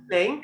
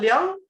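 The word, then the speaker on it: 龍: Liang is the literary pronunciation of dragon. Ling is the colloquial pronunciation of dragon.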